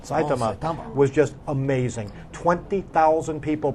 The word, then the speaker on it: Saitama: was off the charts and saitama as that's how we pronounce it saitama was just amazing 20,000